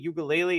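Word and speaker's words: Uiagalelei: in cam Ward and Oregon state has DJ ukulele is that how you pronounce his last name perfect so great I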